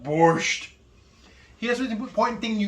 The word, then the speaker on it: borscht: And you gotta say it like that, like it's coming back up. Borscht.